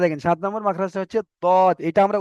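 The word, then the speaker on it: ض: সাত নম্বর মাখরাজটা হচ্ছে দদ এটা আমরা উচ্চারণ করতে গিয়ে সঠিকভাবে উচ্চারণ করতে পারি না কেউ জদ বলে দি কেউ দদ বলে দি এটা কিন্তু আসল উচ্চারণ হয় জদ আর দদের মাঝখান থেকে মানে আওয়াজটা এমনভাবে বের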